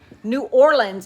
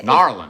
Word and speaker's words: New Orleans: How do you say it? Narlands. It's Narlands. Kind of like churn.